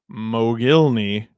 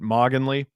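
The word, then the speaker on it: Mogilny: And the answer is a Alexander Mogilly. 58% of you got that. All of us went to school with some kid who annoyingly pronounced it moggginly.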